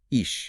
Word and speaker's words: אִישׁ: So, today, for our deep dive, we are looking at a single ancient Hebrew word, which is ish. Pronounced ish.